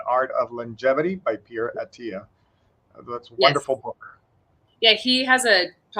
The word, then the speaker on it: Attia: It's Attia is how you say it.